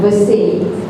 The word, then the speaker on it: VACE: You know, it's actually from Virtual Acceptance and Employment Training for PWDs, and I just pronounce it like French.